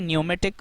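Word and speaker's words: pneumatic: यह न्यूमेटिक रूलरसोंग्स इसको इसमें पी साइलेंट होता है पी नहीं आप रीड कर सकते यानी पी इसमें आप नहीं पढ़ेंगे जब आप इसकी प्रोनंसिएशन करेंगे पी साइलेंट होगा इसको आप कहेंगे न्यूमेटिक रोलर्स कहेंगे यह भी आप देख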